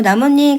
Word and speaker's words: 나뭇잎: 바로 나무님 같은 경우가 지금 니은이 두 개가 이렇게 들어가서 발음이 됐지. 합성어고 인몸. 자, 니은이 한 번 들어갔네. 합성하고 니은이 첨가돼서 발음이 되면 사이소리 현상이야. 합성어에서 나뭇잎 발음을 해 보면 니은이 두 번 들어갔네.